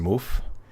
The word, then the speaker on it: VanMoof: Van Moof, I believe it's pronounced Moof.